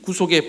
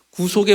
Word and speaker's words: 구속: 죄사함 에 복입니다 그이 구속이란 이제 좀 발음을 좀 잘 해야 됩니다 9 속하며 는 사람이 이렇게 뭐 감옥에 구속됐다 된다는 그런 뜻이고 그리고 조금 길게 구속 구속 인데 에 이 영어로 하면